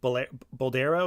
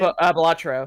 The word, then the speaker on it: Balatro: Was it Boldero? Is that how you say it? Balatro. Balatro. There we go.